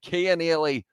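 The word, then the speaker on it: Cian Healy: does all did he score yes he did kia nearly keen early that is the name keon with a k he has scored it but his name spelled with a c but it's pronounced gay kia nearly another prop has been able to score the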